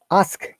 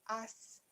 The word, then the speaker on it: ask: There should be K sound. Ka. Ask. Ask. Ask. Again. Ask. Ask. Create the K sound. Ask. Ka. Ask. Ka. Ask. Ka. Ka. Ask. Ask. Ask. You have to pronounce the K Ask. sound. Not ask only. Ask. There is a K sound.